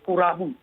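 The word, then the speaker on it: クラブ: Kalau club itu di bahasa Jepangnya diucapkannya oleh orang Jepang sebagai kurabu.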